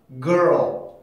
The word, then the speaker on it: girl: 그러면 당연히 이거를 보면 걸이라고 읽을 수밖에 없죠. 걸. 그죠? 근데 이 단어의 정확한 발음은 이런 소리가 나요. girl. 이런 소리를 만들어내거든요. 왜 이런 소리가 날까? 왜? R 발음하고 L 발음은 같은 발음이 아니니까.